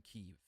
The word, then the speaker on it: Kyiv: It's pronounced Kiev. Well, so I was pronouncing it Kiev for the last 2 days. Now, what I've seen is it's being pronounced both ways. So you're going to hear me, my brain wants to say Kiev. I'm kind of forcing Kyiv, to be honest.